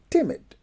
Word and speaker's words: timid: in the bass so timit is uh in isolation is ounce with the stress on the first syllable we say timid well when we ate